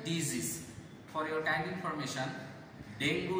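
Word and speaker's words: dengue: আবার দেখো এই এখানে দেখো, এখানে এই এক্সাম্পল এখানে আছে, ডেঙ্গি fever is a fatal disease. For your kind information, ডেঙ্গু উচ্চারণ হবে না, সঠিক উচ্চারণ, পারফেক্ট কারেক্ট প্রনাউন্সিয়েশন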